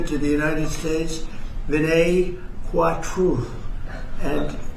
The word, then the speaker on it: Kwatra: We're greatly honored to be joined by the Indian ambassador to the United States, Vinay Kwatra. And it's very nice. You pronounce it perfectly.